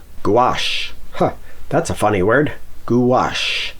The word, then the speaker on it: gouache: Gouache. How do you pronounce it? Well, start with a goo and add a wash. Try it. Gouache.